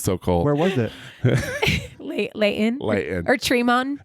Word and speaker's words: Layton: You pronounce Layton correctly. That's because good. You can tell you're from California. I like that. It's not Layton. My kids. It's Layton. So no, this is what's so funny.